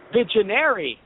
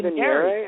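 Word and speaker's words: Vigenère: we made jokes about the pronunciation before, Vigenary. Yeah, I say Vignere, and I believe that's wrong, so it's really funny.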